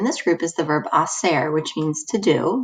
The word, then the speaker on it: hacer: Remember, you don't pronounce the H at the beginning of a Spanish word, so you just start with the I.